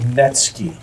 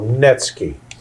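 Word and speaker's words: netsuke: they are okay oh my goodness they're called netsky okay that's spelled NE t su ke vu is silent so netsky they are all carved wood and they they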